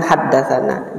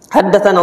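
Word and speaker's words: حدثنا: Tapi na itu singkatan dari haddatsana. Tetap diucapkan haddatsana. Jangan dibaca teks tulisannya itu na dibaca na gitu aja, enggak, tetapi tetap antum baca haddatsana. Haddatsana Shalih ibn Muqatil ibn Shalih qala haddatsana abi.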